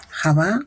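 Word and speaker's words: חוה: Eva en hebreo se escribe He, Het, Bauge, Javá o Javá.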